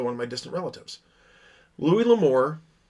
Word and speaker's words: Louis L'Amour: Louis L'Amour, or Louis L'Amour, however is actually the correct pronunciation on that.